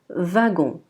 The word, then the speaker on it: wagon: Pour la lettre W, quand elle est placée au début de la phrase, elle est généralement prononcée V, Oui, W sera un V. Donc on dira wagon.